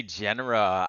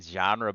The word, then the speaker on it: genera: Is it genera or genre? I think I heard it pronounced a couple ways, and I'm still confused. Genera. I say genera. I've heard a lot of people saying genre, but isn't genre like a music genre?